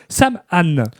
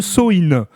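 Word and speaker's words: Samhain: il fait il fêtait Sam Anne. Et oui, prononce prononce-le Soï.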